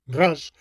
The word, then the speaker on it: Raz: Y lo mismo autores positivistas posteriores como el ilustre inglés Raz, es un apellido germánico, Ratz en la pronunciación germánica, bueno, españolizado Raz, polemizó con Alchurrón y